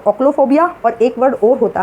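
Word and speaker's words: ochlophobia: एक वर्ड और होता है आपका ओक्लोफोबिया, स्पेलिंग होती है आपकी OCHLO, ओक्लो, और फिर इसमें आप लगा दीजिए फोबिया।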